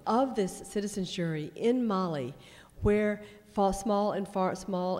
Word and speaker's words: Mali: Maybe my Texas accent not pronouncing Mali as in the girl's name. Mali.